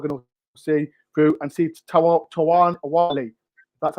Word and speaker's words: Awoniyi: If you're going to be so much content that you are going to see through and see Awoniyi. That's how I pronounce his name.